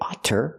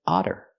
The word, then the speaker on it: otter: because they're between vowels we don't say otter we say otter this is an otter